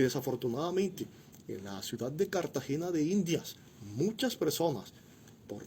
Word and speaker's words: Cartagena: Aquí en Cartagena no se dice Cartagena. ¿Se dice cómo? Cartagena. Es muy sencillo.